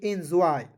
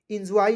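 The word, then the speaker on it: enjoy: जे ओ आई तो इसे पढ़ेंगे एंजॉय इंजॉय नहीं पढ़ेंगे इस एंजॉय पढ़ेंगे यहां पे य लिख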